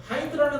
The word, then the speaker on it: hind: 나중에 보니 hind라는 단어를요, 힌드 말고 hind라고 읽어요.